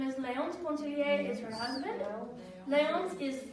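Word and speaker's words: Pontellier: But the main character is a woman named Edna, and the pronunciation is Pontillier. It's French. Pontillier, yes.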